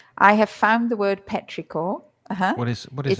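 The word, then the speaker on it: petrichor: And in the meantime, I have found the word Petricore. Uhu. What is What is it? It's pronounced Petrior in English, too.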